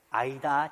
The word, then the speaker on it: AIDA: AIDA 전략. 아이다 전략. 아시겠죠? 그거 알아요? 여러분들 뮤지컬 아이다 있는 거 알아요? 그 봤죠? 그거 볼 때마다 개론 교수님은 어 저 고객적인 마케팅인데 그 생각이 나요. 스펠링도 똑같아요. AID에 아시겠죠? 아이다.